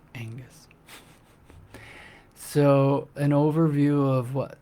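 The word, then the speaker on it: Aonghas: G H A S, which oddly enough is pronounced Angus.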